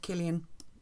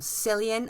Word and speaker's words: Cillian: I love Killian. Obviously, one of the probably best Irish actors of all time. It hurts my soul when I hear people call him Cillian.